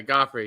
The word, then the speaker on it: Guifre: I say uh uh gofy you say gofy as it looks okay goffy yeah I want it's pronounced like the uh the who is it the king in um Game of Thrones or the ballet in